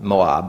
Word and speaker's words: Moab: Moab is actually more correct pronunciation.